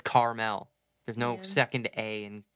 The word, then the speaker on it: Carmel: New York that's right it's Carmel not caramel oh